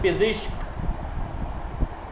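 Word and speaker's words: پزشک: Pronunciation है पिज़िश्क, पिज़िश्क यानी doctor.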